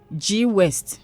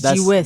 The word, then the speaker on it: G-West: So now listen to the pronunciation. G West. G G West. G West. It's G West. That's how to pronounce it.